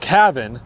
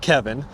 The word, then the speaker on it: Caven: here's the actual owner Cavin not Kevin Cavin I even get my